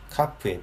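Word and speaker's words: ך: 뭐 이렇게 물음표 모양으로 하는 것이 정석이긴 합니다. 그래서 이게 카프의 필기체 종결형이다라고 하는 것이고, 아까 또 말씀드렸다시피 두 가지의 발음을 가져요. 하나는 카, 하나는 아까 헤트랑 동일한 발음이 되겠습니다. 하.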